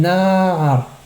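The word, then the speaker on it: נַעַר: Min na'ar. Na'ar est un mot qui est millerel. Donc on ralentit sur le nun.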